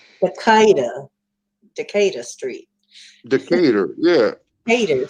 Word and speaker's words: Decatur: Yeah, it's spelled French, but it's pronounced differently than the French Decatur.